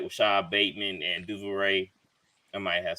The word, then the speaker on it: Duvernay: doors wide open, just like Rashad Bateman and Duvernay. I might have said his name wrong.